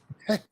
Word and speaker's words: Ptah: Okay, we put the A in there in order to make it easy for people to pronounce it, but it's PTH, patah, patah, patah.